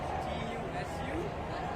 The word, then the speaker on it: Tusu: Oh, it's Tusu, T-U-S-U, and then. And then pronounce it for me.